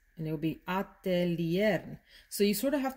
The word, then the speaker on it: Atelier des Ors: in spanish is very different in spanish you pronounce all of the letters for the most part so it would be des ors and it would be atelier so you sort of have to retrain your